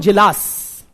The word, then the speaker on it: Djilas: Frank Parkin and Milovan Jilas, MILOVAN, N for Nagaland, MILOVAN, Jilas, DJ, हाँ D silent था थोड़ा, Milovan Jilas, MILOVAN, DJILAS, क्या हो गया ना?